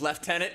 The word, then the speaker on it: lieutenant: Explain lieutenant being pronounced as left tenant.